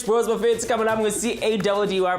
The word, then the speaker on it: Caddy: Warm welcome from the best two fresh bros Buffet coming up with C-A-D-D-Y pronounced Caddy.